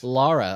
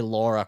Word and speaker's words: Lara: And Lara, I like that you said it right. Right. There's people out there that still say Lara Croft, and it makes me want to smack somebody.